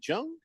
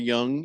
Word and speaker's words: Jung: Josh Jung uh is Jung J.H. Yeah. Jung or Young. Jung. You sure? Pretty sure. Josh Jung because the Jun N G might be pronounced young. Uh, no. It is young.